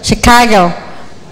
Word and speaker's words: Chicago: Kalau ini ada Chicago, she bukan ci.